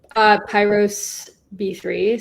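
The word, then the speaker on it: PyrosB3: How do you pronounce Daniel's handle? Pyros B3, so it's like like fire related. Yeah. Pyros B3.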